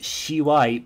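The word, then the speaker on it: 吝い: Alternately pronounced shiwai.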